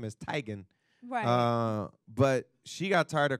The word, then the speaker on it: Teigen: Thailand but her father's Norwegian and the official pronunciation of their last name is Tigan but she got tired of correcting people when